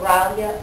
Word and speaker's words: Rilya: It's called the Rilya Alert System. R-I-L-Y-A is how it's spelled.